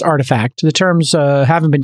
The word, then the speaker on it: RTFKT: an nft studio pronounced artifact it's spelt rtfkt but it's pronounced artifact the terms uh haven't